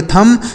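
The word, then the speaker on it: thumb: यहां जो बी लिखा है ना यह साइलेंट है।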